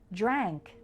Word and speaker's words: drank: these are pronounced differently drank has an ankh sound just like in the words bank thank and ankle let's practice repeat after me bank thank ankle drank drunk has the unk